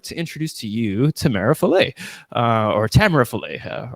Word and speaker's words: Tamara: thanks sammy um well i pronounce my name tamara but my canadian pronunciation is tamara so i i basically answer to anything that starts with a t so i'm very